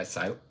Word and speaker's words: Psylocke: Yeah, Psylocke.